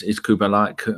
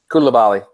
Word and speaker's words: Koulibaly: The other player we're not mentioning is Kubalai. How do you say his name? Koulibaly.